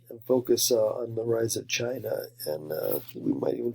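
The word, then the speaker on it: Qin: that's pronounced chin okay I know it looks like Quinn or kin or whatever but it's it's pronounced Chin Dynasty and this is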